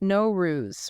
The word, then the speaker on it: Nowruz: a really fascinating topic now ruse the Persian New Year pronounce no ruse right that's it so many people probably